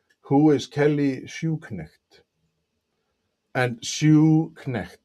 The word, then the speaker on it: Schuknecht: And Schuknecht, it's like a shoe and a knecht.